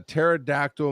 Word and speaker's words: pterodactyl: Kaz submitted, what sound does a pterodactyl make in the bathroom? And the punchline is nothing. The P is silent.